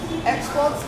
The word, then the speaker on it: export: Then export as a verb, we have the stress position on the second syllable.